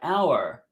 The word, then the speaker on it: hour: with a vowel like hour starts with an H but the H is silent so it's a vowel sound be careful so it's